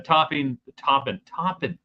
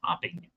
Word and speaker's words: Toppin: Tech baseball in the discussion, basketball, the topping. Gotta say it right. I keep wanting to say topping.